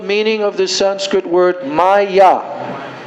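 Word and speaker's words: माया: of the Sanskrit word Maya Ma and yah two syllables do you know what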